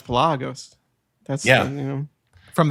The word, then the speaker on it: Pelagos: handful of times since i learned how to pronounce pilagos that's yeah you know from that video revolution lagos yeah it's palagos you got to draw out there it's not pelegos it's flagas okay yeah they definitely played up